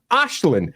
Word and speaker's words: Aislinn: And in Scotland, we pronounce the name Ashlin. We don't even think about it. We just see that name and we're like, "That's Ashlin. It's Ashlin."